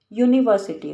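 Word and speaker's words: university: का एग्जांपल ले लो यूनिवर्सिटी spelling चाहे यू से स्टार्ट हो रही है यू य की साउंड आ रही है य की साउंड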